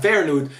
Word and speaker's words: Feyenoord: I'm saying it right this time, Feyenoord, which are not the toughest opposition, and they were Feyenoord were very injured in this tie.